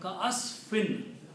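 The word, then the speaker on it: كَعَصْفٍ: So the word becomes ka'asfin. Ka'asfin. Not meme yet, noon only. Okay. Meme will become because of this one. So the pronunciation right now is ka'asfin, like F-I-N.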